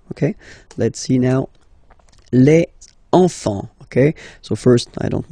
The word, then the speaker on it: enfants: Don't pronounce the T, you don't pronounce the S.